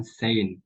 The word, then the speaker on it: Shein: Kemudian nama perusahaan lebih dipopulerkan dengan Shein yang disingkat dan diucapkan Sein, yang kemudian membentuk perusahaannya secara lengkap 5 tahun kemudian.